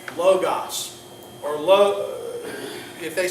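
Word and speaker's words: λόγος: it's not omega Omicron so it's either logos which is the short form of the o or modern Greek allows the Omicron to be oo the long form of the O So in in modern Greek they would say logos but no one would say logos you see because the two letter it's either going to be logos or Loos but if you say Loos it's not correct huh and so what's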